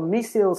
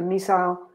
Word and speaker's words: missile: Okay, and then you have a missile or missile strike and a missile attack. Both pronunciations are correct, missile and missile.